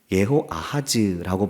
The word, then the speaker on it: 여호아하스: 말씀하는데 21장 17절에 보면 여호아하스라고 말씀합니다. 이것은 이름이 다른 것이 아니고 잘못된 것이 아니라 단어의 조합을 앞뒤로 바꿨을 뿐이지 같은 이름입니다. 또 원어적인 발음을 보면 여호아하스는 예호아하즈라고 발음이 되고 아하시야는 아하즈야후로 발음이 됩니다.